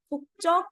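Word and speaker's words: 국적: कुक चक इ व्ट कुक चक इ nationality hook चक इसे च बोलेंगे क्यों बोलेंगे pronunciation rule number four densification rule नहीं देखा है तो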